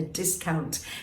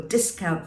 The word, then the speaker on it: discount: your eye doesn't it but there's another way you can say this as well and that would be to discount discount discount discount can you get the difference there to discount something means